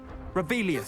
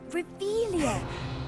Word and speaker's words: Revelio: Revelius. Saying it wrong. Ugh, Revelia. Much better.